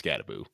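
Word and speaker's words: Skattebo: I'm going to have to Scatabo.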